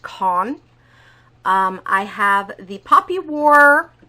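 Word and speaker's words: Kuang: Abraham then by RF I believe that's pronounced Cohn I have the poppy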